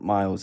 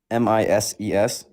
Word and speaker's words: Mises: It's not Miles. It's Ms. Institute. Spell it. M I S E S.